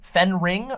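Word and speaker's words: Fenring: Leah sadu Leah sadu played um lady fening Fen ring I think is how it's pronounced lady fening um and even though her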